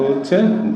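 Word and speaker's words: who: ডাব্লিউ এর পরে এইচ আর থাকলে এই ডাব্লিউ এর উচ্চারণ হয় না।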